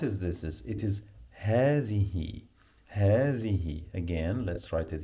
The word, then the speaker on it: هذه: Ha, the, you must pronounce the th like in the word the. Okay, you must touch your tongue with your upper teeth.